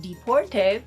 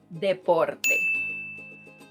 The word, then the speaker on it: deporte: So if you were thinking that this word is pronounced deporte because you thought it was somehow related to deportation, well, that's not what it means, and it's pronounced deporte.